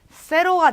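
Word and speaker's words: cero: 근데 스페인어로 발음을 하면 이 세타가 쌍시오 소리니까 세로가 되겠죠.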